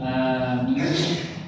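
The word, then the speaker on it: آمين: Menurut pendapat yang masyhur di kalangan ahli bahasa, ada dua cara membaca amin yang benar. Yang pertama dibaca dengan dipanjangkan kata a sehingga menjadi amin.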